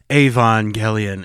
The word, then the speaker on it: Evangelion: sounds natural and then they started like ging the G and so I'm like crap but you're going to hear both pronunciations yeah and they won't even give me an evang Evangelion it's like avang gelan it's like the most nonobvious pronunciation of the madeup word that they could have gone with but yes I think